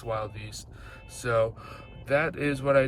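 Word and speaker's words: Wilde Beast: It's spelled Wildebeest, but it's Wild Beast.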